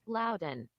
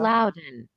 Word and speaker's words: Loudoun: I'm going to go ahead and see how Google pronounces it. Loudon. Oh, yeah, Google did Yeah. Loudon.